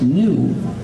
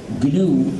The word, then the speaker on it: GNU: Si lo pronuncias new, si dices the new system, ya te equivocas, porque vamos desarrollándolo desde hace 28 años y vamos usándolo desde hace 20 años. Ya no es nuevo, no es the new system, pero sigue siendo the GNU system. Entonces, por favor, pronúncialo GNU en inglés.